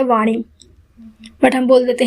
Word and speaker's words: वाणी: यहाँ पर देखिए लिखा है वाणी, बट ऐसे बहुत से लोग हैं जो बाणी बोलते हैं, लेकिन सही क्या है?